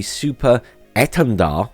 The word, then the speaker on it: Super Étendard: And they will also be getting the Super Étendard, apparently that's how you pronounce it in French, strike aircraft, superior to